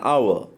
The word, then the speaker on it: hour: And silent for example, here the an hour, an honest man, right? Here, H is silent.